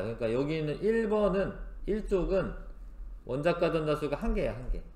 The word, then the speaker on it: 원자가: 요거는 뒤에 나올 거는 같은데 같은 족이면 원자과 전자라고 하는 게 같아요. 원자과 전자수가 같아요. 원자과 전자수라고 하는 거는 이게 원자과라고 읽으셔야 돼. 원자가 전자수가 아니라 하여튼 원자과 전자수는 가장 바깥쪽 껍질에 있는 뒤에 나올 거예요.